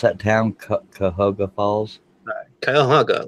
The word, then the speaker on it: Cuyahoga: Cuyahoga, like the river.